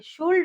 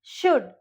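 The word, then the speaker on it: should: Okay, and देखिए ये जो चीज है कोल्ड, कई ऐसे बोलते हैं COULD, तो उसको कुल्ड बोलेंगे, शुल्ड बोलेंगे, नहीं ऐसा नहीं है, यहाँ पे L साइलेंट है, तो इसको हम प्रोनाउंस करेंगे कुड या फिर शुड, ठीक है।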